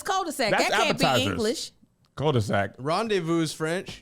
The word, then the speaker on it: rendezvous: English cul-de-sac Rendezvous French Rendezvous is outrageous that's French too we don't need to know how to spell that run it's run this Valley with a z there's a z in there too it is yeah it's silent yeah don't I don't there's